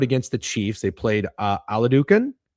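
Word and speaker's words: Oladokun: They played Aladucan. Is that how you say his name? Aludicon. Yep, played Aludicon.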